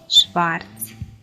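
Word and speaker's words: schwarz: Буквосполучення SCH дає нам звук Ш. Шлехт, Шварц.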